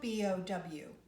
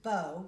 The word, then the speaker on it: bow: is that it's spelled B-O-W. That's a homograph because you can either pronounce it bow, B-O-W, bow, like you would do on an instrument, or B-O-W, bow, like you would take a bow.